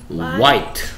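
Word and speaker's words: white: i n k 그렇죠 화이 와이트 어 화이트가 아니고 와이트음 발음이 뭐라고요네 발음이 뭐라고요 와이트 어 와이트 화이트 아니에요 그래서 레이 g y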